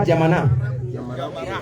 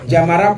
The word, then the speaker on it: Diamara: Aujourd'hui nous sommes à Diamana dans la section de Bier c'est ça non dans la section hein Diamara c'est pas Diamana Diamara Couamara alhamdillah dans la